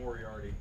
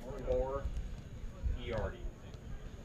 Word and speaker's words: Moriarty: do you pronounce that Moriarty guy? Moriarty. Okay, More E-arty.